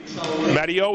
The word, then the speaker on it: Matteo: And now we got, what'd you say, Matteo, is how you pronounce it?